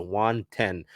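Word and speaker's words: Juan Then: On May 6th, the team recalled right-handed pitcher Juan Ten from AA Arkansas as a result of the Penn Murphy move. So it is spelled Juan, T-H-E-N, but it is pronounced like the number 10. So Juan Ten.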